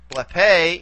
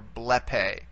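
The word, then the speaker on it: βλέπε: Blepe is, again, we go back as far as we can. In this case, we only have two syllables to play around with. And this one's going to be long anyway for purposes of accentuation. So here is where we put the accent for blepe, blepe.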